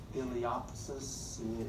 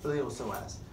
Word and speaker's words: iliopsoas: The P is silent, so don't say iliopsis, it's iliopsoas.